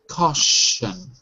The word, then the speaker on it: caution: that one for me caution caution CAU with a sh caution C good C okay and Au is like all like ball okay very good okay